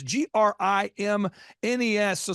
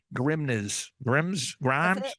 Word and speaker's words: Grimnes: So someone's going, Grimes. That's it. You got it the first time. If you add an S, you will pronounce it correctly. Yeah. So think of it. My dad would say, think of it as like, don't say this, Dad. He's like, think of it as like the grimness of the situation.